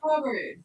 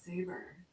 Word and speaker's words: Sabres: Oh no, it's Saber. Something real similar to that. I mean, it is kind of spelled like that, right? Because Yeah, BRES instead of BERS I think it is probably French.